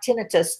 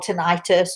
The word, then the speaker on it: tinnitus: Ringing in the ears sounds like tinnitus to me, or tinnitus, or however you want to pronounce it.